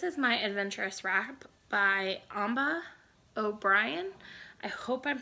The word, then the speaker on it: Amba: My next whip, this is my Adventurous Wrap by Amba O'Brien. I hope I'm pronouncing her name right. It's like Amber, but with an H instead of a, with an AH instead of a ER.